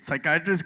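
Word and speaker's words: psychiatrist: But Javed अह यह साइकेट्रिस्ट की बात अगर किया इसमें तो व्हाई इज द P silent in साइकेट्रिस्ट?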